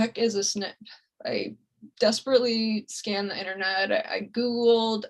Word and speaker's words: SNP: this mystery of the snip is that although the term is pronounced snip as an snip it's